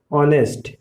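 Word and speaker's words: honest: याद रखना है कि कब हम एच जो है साइलेंट होगा। तो देखिए ये रूल क्या है कि एच के बाद कोई वॉवेल आता है। देखिए आवर में HO वो वॉवेल है, ऑनेस्ट एच के बाद O वॉवेल है, ऑनर एच के बाद O वॉवेल है।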